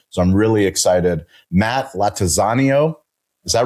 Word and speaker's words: Lattanzio: Matt Lattanzio. Is that right? Totally butchered it, but it's totally butchered it.